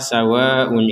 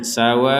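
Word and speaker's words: سَوَاءٌ: Kata sawa'un ini di sini ada harokat bendera. Harokat bendera yang menandakan panjangnya adalah 5 sampai 6 harokat. Maka di sini kita membacanya sawa'un. Tidak hanya dibaca sawa'un. Sekali lagi kita membacanya sawa'un 'alaihim.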